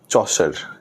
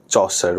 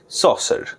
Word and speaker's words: Chaucer: CHAUCER, এটাকে আমাদের যদি ব্রিটিশ প্রোনাউন্সিয়েশনে বলি তাহলে এটা হবে চৌসা। হ্যাঁ, এরকমই চৌসা। আমেরিকান প্রোনাউন্সিয়েশনে বললে সসার, সসার।